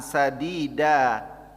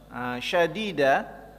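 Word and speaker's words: سديدا: bisa merubah makna Hai kalau disini pakai Sin sadida Hai kalau pakai SIM tapi yang titik tiga syadida itu nanti mah berubah maknanya Hai Jadi kalau di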